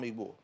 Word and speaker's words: Igbo: I am Igbo. Is that the right pronunciation? Yeah. Yeah. I'm Igbo.